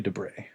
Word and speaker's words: Debray: Louis Debrez, is that correct? I don't even know how to say it. Yes, but we can go however you feel like. I kind Oh, of like Debray. we're gonna go with Louis Debray.